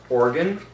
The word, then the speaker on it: organ: Organ, organ, organo. It's weird that in English it's written O-R-G-A-N, but it's actually pronounced O-R-G-I-N.